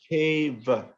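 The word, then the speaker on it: caiva: Cha, ava, cheva. Just put the cha, ava, just say it together. Cheva.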